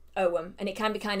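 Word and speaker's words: ogham: figure out what it is it sounds like om so it's o g h a m um it's just it's pronounced ow and it can be kind of confusing if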